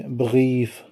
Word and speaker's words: Brief: یہاں پر بھی آپ نے یاد رکھنا ہے وہی اصول کہ یہ جو آر ہے نا، جب انگلش کا آر ہے، اس کو ایاغ بولتے ہیں جرمن